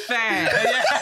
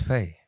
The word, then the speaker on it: Fé: My name's not fair. No. Not Fee either. It's Faye. Yes. Like the Rene, Deirdre, Andre, Faye. That's actually apt. Okay, wow. They all have the accent on the E.